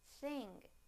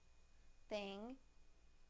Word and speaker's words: thing: Now the ng sound in the word thing, thing, thing.